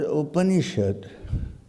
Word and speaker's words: Upanishad: The word Upanishad consists of 1, 2, 3 syllables.